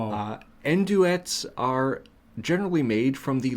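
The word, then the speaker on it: andouillette: Enduet. Or is the French PR the French pronunciation is supposed to be anduet anduette. I guess it is a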